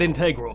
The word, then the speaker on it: integral: Yeah, I pronounced it integral. It's acceptable. And if you've got a problem with that, I will fight you in the comment section, you cowards!